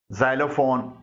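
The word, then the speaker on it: xylophone: तरफ वोवेल्स मौजूद है जब कोई लब्ज एक्स से शुरू होता है अगरचे ऐसे चंद ही अल्फाज हैं तो एक् से जे की साउंड निकलती है जैसे जाइलोफोन जाइलोग्राफी साउंड निकलती है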